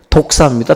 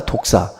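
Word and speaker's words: δόξα: 여러분들 그 영광이라는 단어가 헬라어로 뭐라고 말하냐면 외우기도 쉬워요. 독사입니다. 독사. 확 무는 독사와 발음이 똑같아요.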